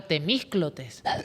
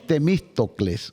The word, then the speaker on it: Temístocles: Claro, Temísclotes. No, es Temístocles. Temístocles.